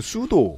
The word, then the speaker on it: pseudo: 슈다 패드리 들어했다 얘기예요네 그냥 저기로 스펠링으로 su 이렇게 쓰는데 실제로는 수도 가짜 할 때 pseudo 아아네 왜 약 이름인데